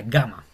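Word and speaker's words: γάμμα: y se llama gamma y se pronuncia exactamente igual que nuestra G, como gato.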